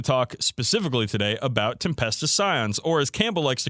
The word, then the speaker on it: Scion: and it is pronounced Scion not skion or Pyon as I heard one kid say but Scion like the car okay so you know